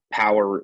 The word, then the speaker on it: POWUR: Power is a renewable energy business. They're a solar contractor in the United States. The company's name is spelled POWUR. California based, been in business a little over 8 years.